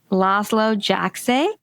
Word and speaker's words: Laszlo Jajczay: I'm Sharon Baum, and today we have a special guest, Laszlo Jajczay. I always say it wrong, but I think I said it right. Yeah, you said it right this time.